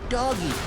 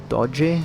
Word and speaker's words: Doge: I've beeen pronouncing it doggy!" I mean it's actually pronounced do-geh?